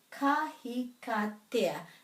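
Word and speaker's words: kahikatea: Ka, hi, ka, te, a. Ka, hi, ka, te, a. Ka, hi, ka, te, a. Ka, hi, ka, te, a.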